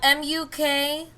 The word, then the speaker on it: mukbang: have this discussion um m-u-k-b-a-n-g yep it's actually pronounced mukbang but you know whatever